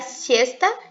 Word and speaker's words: siesta: Enfim, a curiosidade é que Cecília, se eu estiver errado, você me corrija, é a siesta, pronuncia assim, que é o período do dia no qual as pessoas elas voltam para casa para almoçar e dormir, siesta.